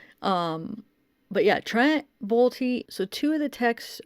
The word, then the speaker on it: Bolte: on inside edition and i guess they were pronouncing his name bolty so i guess it's trump bolty um but yeah trent balti so two of the